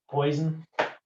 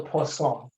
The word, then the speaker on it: Poisson: if you're in indiana this is poison this here is the poison distribution it's but it's actually called the poisson because it's french i love the hoosiers